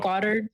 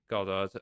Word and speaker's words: Goddard: Goddard. Yeah, that's it. Goddard.